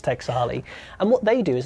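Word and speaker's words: Taexali: I couldn't spell it for you. T-A-E-X-A-L-I. I think it's Texali.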